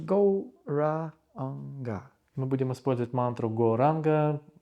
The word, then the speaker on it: Gauranga: The mantra will be Gauranga divided into 4 syllables, Go-Ra-Anga.